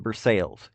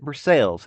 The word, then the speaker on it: Versailles: This was 2 or 3 hours prior to Ron arriving in Burcales. If you're not from Kentucky, I know it's spelled like the French word Versailles, but in Kentucky they pronounce it burces.